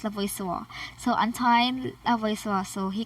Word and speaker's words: Lavoisier: So the next person in our list is Antoine Lavoisier. It's actually pronounced as Lavoisier.